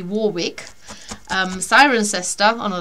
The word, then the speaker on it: Warwick: Minster and then there's um wari if you pronounce it properly would be Warwick um siren sester oh